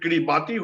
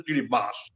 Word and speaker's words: Kiribati: People call it Kiribati, which is wrong. It is written as Kiribati, but pronounced as Kiribati.